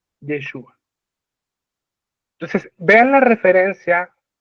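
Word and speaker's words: ישוע: ¿Sabían ustedes en hebreo, otro riqueza literaria, la palabra Josué en hebreo es la misma que se pronuncia para Jesús? Yeshua. Yeshua.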